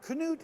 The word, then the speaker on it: Knute: Now, Knute is the proper pronunciation of your name and your grandfather's name, right? Yes, it is. It's the Norwegian.